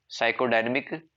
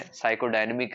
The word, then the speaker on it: psychodynamic: लिखो साइकोडायनेमिक theory, PSYCHODYNAMIC, साइकोडायनेमिक theory. देखो इसके अंदर पी है वो साइलेंट रहता है, साइको जैसे साइकोलॉजी है, साइकोडायनेमिक है, ध्यान रखना।